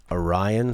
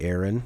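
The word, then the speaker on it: Arion: spineless Funk composed by Orion Salazar or maybe Aaron but spelled like a douche a-r-i-o-n it is the founding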